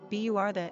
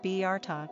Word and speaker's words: Bertha: Pronunciation, Bertha, English, Bertha, German.